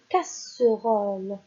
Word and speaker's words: casserole: Lorsqu'il y a un double S, ça ne se prononce jamais Z, mais ça se prononce toujours S. S.